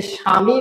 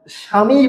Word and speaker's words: স্বামী: লেকচারে আলোচনা করেছি স্মরণ এখন এখানে তো আমরা স্বামীই বলি আমরা কিন্তু উচ্চারণে সাবামী বলি না উচ্চারণে কি আমরা সাবামী